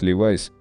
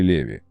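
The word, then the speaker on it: Levi's: Носители английского языка чаще всего говорят «Левайс», потому что по правилам английского имя Леви читается как Левай. Но создателя первых джинс звали Леви.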